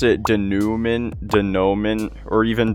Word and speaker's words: Denouement: This level's name is just pronounced De Nou Men.